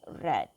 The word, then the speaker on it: read: example write read again the past tense for read is also spell red only the pronunciation is pronounced as red okay so let's take